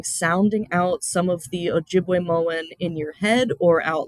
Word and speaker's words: Ojibwemowin: So the title of the book, Ojibwemowin, we have that double I, so that is we, single I is j, double A is wa, and then two single A's is ganug.